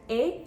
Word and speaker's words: et: Moving on to the word et, the only letter in this word that's pronounced is the E.